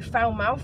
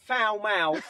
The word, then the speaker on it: Falmouth: It's not Falmouth, like potty mouth. David keeps taking the mickey at me because I keep saying it wrong. But we're at Falmouth Beach, a swan pool beach to be more specific.